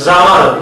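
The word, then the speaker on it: זמר: 찬양의 뜻은 히브리어에서는 여러 가지 수십 개의 뜻이 있는데 여기서 사용하는 찬양하라는 것은 정확히 자마르 이렇게 발음이 되겠지만요.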